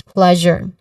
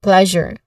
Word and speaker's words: pleasure: The second syllable, jour, it has a schwa sound. So which means there's a unstressed and quick vowel sound here. So this is pleasure. Again, pleasure. Now the stressed syllable is on the first syllable plus. So that's a stressed syllable, pleasure.